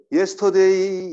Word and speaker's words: yesterday: 근데 이거 제대로 발음하려면 어떻게 발음한다고요? 이렇게 발음이 되죠. yesterday 이게 아니라 yesterday. 근데 이가 들리진 않아요, 잘. 근데 이로 시작하는 거하고 발음을 이가 없이 그냥 바로 예로 나가는 거하고 다르다 이거죠.